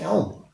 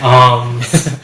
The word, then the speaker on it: alms: What's an elm? Alms. Yeah. It's pronounced alms. Elm is a tree.